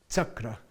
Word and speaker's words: chakra: Radza, Pancha, okay, like chakra, not chakra. Chakra is the correct pronunciation from ancient India, okay?